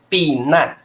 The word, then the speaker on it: 避难: 可以避孕药哦这个这个呃 14 这个避难的难是多音字所以我们要念的是四声啊这个要念四声哦这个是z 避难 4声因为这个字是多音字困难 difficult 困难 but here you should pronounce it like避难 b 难ok so it